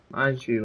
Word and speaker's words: Baiju: Baiju, that's how you say his name.